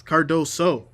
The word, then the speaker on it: Cardoso: I keep saying sa. I don't know why. It's Cardoso. Cardoso. I got to say it like keep saying it in my head.